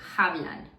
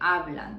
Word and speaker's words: hablan: Now, in Spanish, the H is mute. We don't pronounce the H. We don't say hablan, we say hablan.